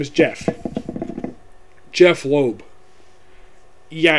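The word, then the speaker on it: Jeph: yeah it's jail this backpack his name is jeff jeff loeb yeah it's kind of weird but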